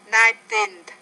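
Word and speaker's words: nineteen: And the numbers of teen, it's 19. The stress is on the teen, not on the first syllable.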